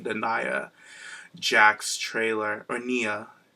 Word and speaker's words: Nia: Nia Jax trailer, or Nia. Nia. Oh, I said it right. Wow, I said it right for the first time.